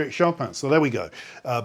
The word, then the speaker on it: Chopin: about pronouncing shaan uh there is a Polish pronunciation but shaan lived in France from the age of 20 and chose to adopt French pronunciation of his name and that's the pronunciation that you'll find is the recommended pronunciation online and it doesn't differ enormously from the way I say his name shopan fras shopan so there we go